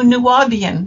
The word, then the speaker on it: Nuwaubian: book on, and I'm not sure how to pronounce this, the Nuwaubian? Oh, Nuwaubian, yes.